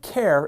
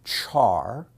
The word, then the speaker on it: char: in Java the type care is a primitive type like int boolean and double some people pronounce it char some people pronounce it car and some people say care but everyone says the